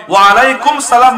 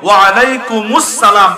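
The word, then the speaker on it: وعليكم السلام: সুন্নত তরিকায় সালাম দিবা সালামের শুরুর হামজা শেষের মিমকে স্পষ্টভাবে উচ্চারণ করবা এভাবে দিবা আসসালামু আলাইকুম না আসসালামু না আসসালামু আলাইকুম ওয়া রাহমাতুল্লাহ কিভাবে দিব আসসালামু আলাইকুম ওয়া রাহমাতুল্লাহ সালামের জবাব দেওয়ার সময় ওয়ালাইকুম সালাম নয় এভাবে দিব ওয়ালাইকুম আসসালাম কি বলেন ওয়ালাইকুম আসসালাম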